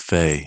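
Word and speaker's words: Fe: I'm just glad that I finally know how to pronounce it. Since we know it's Fae, even though I still think there's going to be some confusion between people talking about Fire Emblem and Fae.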